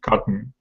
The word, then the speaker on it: cotton: I was concerned because there is a word like you heard cotton, where you don't really pronounce T, like you swallow it, cotton.